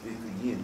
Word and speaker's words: صديقين: And to keep the how Grand Shaykh said it, we even Moran Shaykh Nazim keeping, we say Siddiqiyun. But really it is Siddiqiyin, you must say, but we say according to how Grand Shaykh pronounced it, we keep it as it is now.